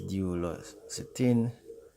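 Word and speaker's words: duloxetine: o x e t i n that is d los cetin and m i l n a c i p r a n that is pronounced milnacipran your doctor may also suggest pain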